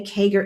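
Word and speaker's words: CAGR: Kager is C A G R.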